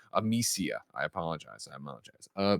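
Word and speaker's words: Amicia: writes in it says i pronounce the name wrong of the main character it's amisia i apologize i apologize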